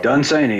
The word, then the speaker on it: Dunsany: Byron yes you're right Lord Dunsany it's actually pronounced insane you for so long done seining okay now he was a he was a